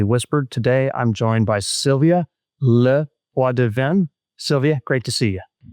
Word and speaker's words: Sylvia LePoidevin: Today, I'm joined by Sylvia Leadven.